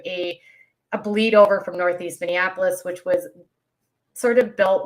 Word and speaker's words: Minneapolis: talks about from North Minnesota, but it's North Minneapolis.